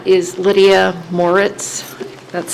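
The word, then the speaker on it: Moritz: //MY NAME IS LYDIA MORE ITS. THAT'S SPELLED M O R I T Z AND I RESIDE AT THE SHORES.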